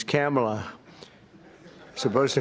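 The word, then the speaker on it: Kamla: I said, is this the same pronunciation? No, sir, it's a little different. It's Cam, right? Cam, as opposed to Calm.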